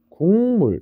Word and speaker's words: 국물: 우리 국물이라는 단어가 있습니다. 얘를 우리 발음하면 어떻게 발음나죠? 국물 이렇게 발음나게 됩니다. 자, 여기서 누가 바뀌었냐라고 하면 여기 있는 기억이 이응으로 바뀌게 됐죠. 자, 여기 있는 기억이 이응으로 바뀌게 됐죠? 이런 것들을 우리는 비음화라고 하는 겁니다.